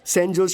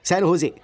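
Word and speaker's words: San José: Oh sorry sorry sorry sorry sorry, सैन होजे, SANJOSC। इसकी spelling यही है ना, लेकिन इसमें जे साइलेंट रहता है, इसलिए इसे सैन होजे बोलते हैं।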